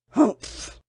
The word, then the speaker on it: humph: "Humph!" said the sand fairy. If you read this story aloud, please pronounce humph exactly as it's spelt, for that is how he said it.